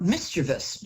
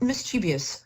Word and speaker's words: mischievous: more confident and more a word that mispronounced a lot mischievous not mischievous no no mischievous um so it's